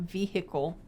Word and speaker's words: vehicle: about um buying a vehicle and then he got an ad about used cars for sale the h is silent what'd i say it's vehicle vehicle vehicle i'm just kidding